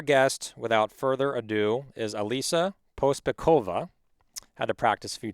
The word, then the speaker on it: Alisa Pospekhova: So, our guest, without further ado, is Alisa Pospekhova. Had to practice a few times to get to pronounce her last name correctly.